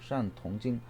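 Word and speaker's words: 善: 착할 선자는 중국 발음으로 샨이라고 발음하고, 샨 통경을 잘 치료하다.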